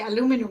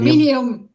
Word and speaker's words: aluminium: My American friends say aluminum when they want to piss me off because Aluminum? it's aluminium.